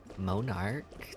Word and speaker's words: Monarch: I am Monarch, that's how it's pronounced.